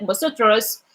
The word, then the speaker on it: vosotros: Yes, yes, and the V like kind of they pronounce it as B, so it's like vosotros, and ellos or ellos is like just for the girls, right?